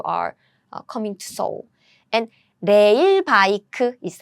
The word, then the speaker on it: 레일 바이크: And 레일 바이크 is how we pronounce this word, rail bike.